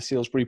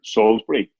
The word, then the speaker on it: Salisbury: Declan, I just finished watching the first episode of the Salisbury Poisonings. Is that the correct title of the show? Yeah, except they pronounce it there Salisbury.